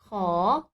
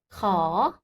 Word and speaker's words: ข: Et à savoir, très important, en français, il n'existe pas de son KH aspiré comme en thaï. Le son que. C'est comme le KH en français, mais c'est soufflé. Ah, la technique simple, c'est comme le K en français, mais rajouter un souffle. Que, que. Et tu peux mettre la main devant ta bouche, comme ça, tu vois si tu prononces bien ou pas.